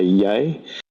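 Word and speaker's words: Vé: In Icelandic we say yay.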